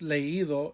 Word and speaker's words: leído: There's going to be an accent on the I there to break up a diphthong. Hubieras leído el libro.